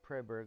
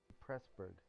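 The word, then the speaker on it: Preßburg: out right now uh is a German EET and he said it's pronounced in English the same way you pronounce a double s said so this this city is not preber like I kept saying but it's actually pressberg so that's really cool to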